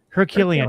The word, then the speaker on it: Herculean: Herculean, yeah, task of trying to steelman the Christian nationalist position.